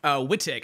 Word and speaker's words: Wittek: But the one we're gonna be focused on today is what happened to Jeff Wittek. I think I say his name Wittek, W-I-T-T-E-K.